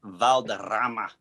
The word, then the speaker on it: Valderrama: If you would have pronounced it Valderrama, like gravitas, they'd be like, whoa.